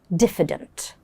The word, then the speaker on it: diffident: describe this personality is diffident. Diffident. Let's have a look at its pronunciation. Diff. So the moment you get here def. Yeah. But then the I has a uh sound.